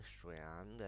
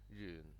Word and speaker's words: 玄: Now the printed form and that the pronunciation in Mandarin Xuan, and that is in Cantonese Yun.